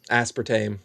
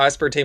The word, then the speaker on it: aspartame: How do you say it? Aspartame. But Americans say aspartame.